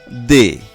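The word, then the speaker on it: des: দে, এই শব্দটি বানানে তিনটি বর্ণ রয়েছে এবং সর্বশেষ বর্ণটি হলো এস এবং এটি অনুচ্চারিত থাকছে, তাই এর উচ্চারণ হচ্ছে দে।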